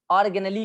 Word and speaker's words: organelle: Cell ऑर्गेनेली, देखिए इसका spelling ध्यान रखिएगा, ORGANELE नहीं, ORGANELLE, यही है स्पेलिंग इसका। ऑर्गेनेली कहते हैं इसको, ठीक है।